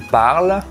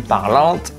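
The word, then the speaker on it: parlent: The first one, when ENT ends a conjugated verb, it is silent. For example, il parle, il mange. Okay? Not il parlante or il mangeant.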